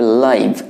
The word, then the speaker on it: live: তার মানে তুমি যদি সরাসরি অর্থে বলতে চাও তাহলে উচ্চারণ করবে লাইভ, LIVE। আর যদি বাস করা অর্থে LIVE বলতে চাও তাহলে বলবে লিভ।